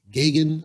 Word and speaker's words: Gagain: People pronounce it Gagin. I say Jake Gagain because it's AIN.